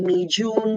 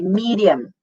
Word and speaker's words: medium: a native English speaker, you don't say medium with a J and a long E. You say medium.